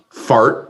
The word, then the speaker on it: fart: It's pronounced "fart," as you might think.